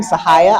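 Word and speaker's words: Syhaya: Hi, I'm Sahaya. Pretty name. Sahaya. Can you spell it for us?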